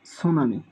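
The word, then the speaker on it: tsunami: 3 নম্বরে আমরা খেয়াল রাখব টি সান আমি, মূলত সুনামি। অনেকে এই শব্দের ক্ষেত্রে এখানে টি সাইলেন্ট থাকে, কিন্তু বিভিন্ন পরীক্ষার মধ্যে দেখা গেছে স্পেলিংটি এসেছে।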